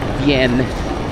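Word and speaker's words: Wien: Ang tawag nila dito is vien pero ang spelling w i n bien hof manhof nasanay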